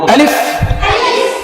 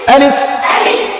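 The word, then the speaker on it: ألف: আলিফ, এই যে ঠোঁটের ভিতরের দিকে গেল আমারটা, কেমন? আলিফ আলিফ আলিফ আলিফ আলিফ আলিফ, আবার আলিফ আলিফ আলিফ আলিফ আলিফ, বা।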